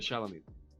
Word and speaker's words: Charlemagne: Could it possibly be that these politicians who, how do I pronounce this award? Sorry, the Clergy. On the Charlemagne. The Charlemagne.